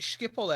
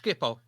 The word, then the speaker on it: Schiphol: I think I was at Schiphol Airport, and there was wait. Fucking wait. huge Say that airport. again. Say that again. Which airport? Schiphol. Skippo.